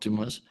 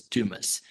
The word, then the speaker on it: Dumas: So sometimes I say Dumas, sometimes I say Dumas. So Ronnie's dad says Dumas, and I do believe that is how he pronounces it.